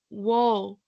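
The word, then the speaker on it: Woll: player's name, and B, he has said it is Wall.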